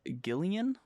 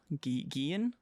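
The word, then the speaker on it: Guillén: Then we have Perito, played by Harvey Guillen. Guillen, yeah.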